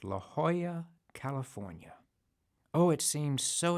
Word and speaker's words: La Jolla: in a place called la jolla california oh it seems so exotic to me they didn't even pronounce j the way we did in talladega and i was an